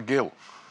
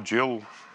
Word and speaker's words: gill: and said what's a gill I said I don't know I'll Google it which I did and discovered you can pronounce it Gil or Jill and but she said